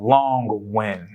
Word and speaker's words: Long Nguyen: is a workhorse so we have my man long win how are you doing sir good good how